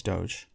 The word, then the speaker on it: Doge: pronounce that i say doge but is it pronounced something else no it's doge okay like g is like a giraffe doge back before door